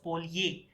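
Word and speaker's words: polje: The J is pronounced as Y, so it is called polye.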